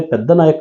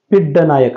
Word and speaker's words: ಪಿಡ್ಡ ನಾಯಕ: ಪೆದ್ದ ನಾಯಕ ಅಂತ ಕೊಟ್ಟಿದ್ದಾರೆ ಪೆದ್ದ ನಾಯಕ ಅಂತ ಅನ್ಬೇಡಿ ಪಿಡ್ಡ ನಾಯಕ ಅಂತ ಹೇಳಿ ಓಕೆ ಪಿಡ್ ನಾಯಕ ಇದು ಸರಿಯಾದ ಉಚ್ಚಾರ ಪಿಡ್ಡ ನಾಯಕ ಇಸ್ ದ